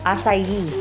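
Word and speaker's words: açaí: Pero sa iba ang pag-pronounce nila iska aka. Ano? Asayi.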